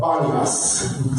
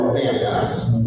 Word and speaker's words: Banias: And then when the Arabs came in, they can't pronounce P's, and so they called it Banias, or Banias.